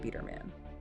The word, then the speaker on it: Biderman: Estate Game by Coach Ron Biderman, and that's pronounced Biderman.